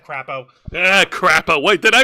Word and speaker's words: Crapo: Crapo. Wait, did I mispronounce it? No, crapo.